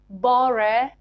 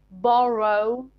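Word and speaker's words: borough: These two words are pronounced differently in British and American accents. So in British accent, they are pronounced bore and thore. But in American English, they are pronounced borrow and thorough. British English, bore, thorough. American, borrow, thorough.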